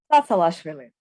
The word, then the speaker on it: Tsatsalashvili: It is Tsatsalashvili, but pronounce it at once and fast. It's not hard. Tsatsalashvili.